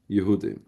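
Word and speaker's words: יהודים: Rabbi Yochanan didn't matter how it was spelled in the Megillah. He pronounced it all Yehudim.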